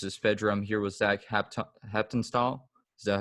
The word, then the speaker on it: Haptonstall: another episode this is fedram here with zach hepton style is that how you pronounce it that's right yep that's right yeah